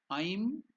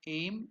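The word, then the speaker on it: ऐं: It is not aim. You should be careful. It is Aim. That's why to make you understand, I have put only I and M. So I is elongated. I have put the strokes on the head of the I to indicate that it is elongated or it is Dirgha.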